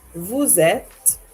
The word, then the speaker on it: vous êtes: Vous êtes, once again, usually we don't pronounce the final consonant of a word in French. However, we do make an exception when the following word begins with a vowel. And so we say, vous êtes, you are, you is,